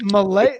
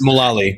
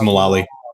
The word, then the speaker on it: Mullally: Is it Malay? How do you pronounce the last name? I feel like I'm getting the last It's Mullally. It's just Mullally.